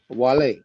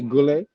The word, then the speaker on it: Guale: starts with a g but to me how you pronounce this like with a w you know that yeah the original language you would have pronounced it as a w as a matter of